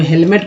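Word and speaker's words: helmet: अब हेलमेट को बहुत सारे लोग अलग उच्चारण करते हैं, जो नहीं पढ़े होते हैं हेमलेट बोलते हैं, हेमलेट।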